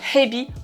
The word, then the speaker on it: hebi: Règle numéro 1, le H, on l'expire. En japonais, c'est comme en anglais. Hello, hi, il faut qu'il y ait de l'air qui sort de ta bouche. Tu peux prendre ta main, la mettre devant, il faut qu'il y ait de l'air chaud qui sorte. Ha. Il y a une grosse différence en japonais entre ebi, la crevette, et hebi, le serpent.